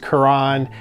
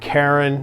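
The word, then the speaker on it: Carène: Quran I like to say Korean but it's pronounced Quran it's not Karen that's a pile of stones and it's not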